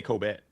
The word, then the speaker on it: Cobet: I say Cobet with a B.